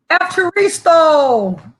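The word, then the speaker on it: ευχαριστώ: Evcharisto.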